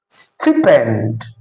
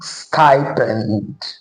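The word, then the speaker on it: stipend: You pronounce this as stippen or stipen.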